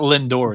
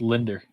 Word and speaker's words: Linder: By the way, it's not Lindor. It's Linder.